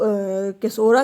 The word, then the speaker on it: caesura: हम जो है वो केसोरा कहते हैं। इसकी स्पेलिंग है KACAESURA, ठीक है, केसोरा।